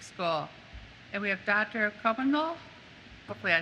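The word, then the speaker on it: Cobanoglu: It's Chobanoglu.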